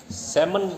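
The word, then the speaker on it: salmon: सैमन मछली है, इसमें एल साइलेंट होता है, सैमन बोलते हैं.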